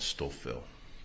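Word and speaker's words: Stouffville: the outskirts of Toronto in an area called stoil stoil can you spell it please oh s t o u f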